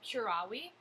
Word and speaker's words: curavi: So the Latin preterite tense for I cured is curavi, because the V's are pronounced like W's.